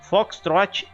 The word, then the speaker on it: foxtrot: charlie e delta eco foxtrot ou simplesmente fox pessoal tem alguns fala fotos mas o ideal é foxtrot é esse é o correto o golf hotel não